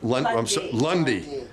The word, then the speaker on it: Lund: And you two ladies, Lundy. I'm sorry. You pronounce the E, sort of, kind of. Lundy.